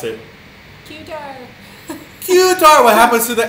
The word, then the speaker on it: Qatar: a t a r Qatar how do you pronounce it qar qar what happens to the a after the Q quar quar very good I think I'm pronouncing so I'm